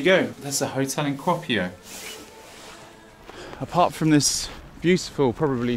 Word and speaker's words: Kuopio: Kuopio.